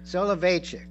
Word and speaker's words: Soloveitchik: Soloveitchik, yes, Soloveitchik.